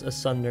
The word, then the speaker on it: asunder: What does asunder mean? I'm gonna look it up. Why do they always talk like this? Asunder. Excuse me? Wait. Asunda. Sunder. You don't pronounce the A? Sunder. Sunder, okay.